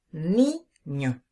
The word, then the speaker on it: niño: el caso de la palabra niño decimos ni no la fuerza de la voz está sobre la penúltima sílaba palabra llana su última